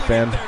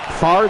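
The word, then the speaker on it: Favre: pronounce it far the V is silence sming okay I always thought it was fa or something like that but anyways we'll say far that's fine far also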